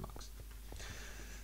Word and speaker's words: mux: I think it's supposed to be pronounced mux because it's short for multiplex.